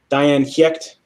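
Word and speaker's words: Dian Cécht: Diane Giecht, or Giecht, it's like a G, but it's spelled with a C.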